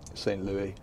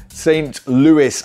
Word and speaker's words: St. Louis: Welcome to St. Louis. Apparently you do pronounce the S. We actually Googled it before we started the video, and Google said it was Louis, but it's Louis.